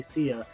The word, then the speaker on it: Sia: No, Sia. Oh, Sia. Okay, I think of Lady Sia. It's Sia, but it's spelled.